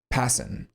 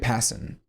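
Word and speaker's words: Pasin: Um, pronuniation, Passen. RJ Passen. Cool. That's how you say his name.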